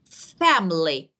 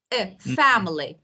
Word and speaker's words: family: For example, family, family. Fa is stress, milling family.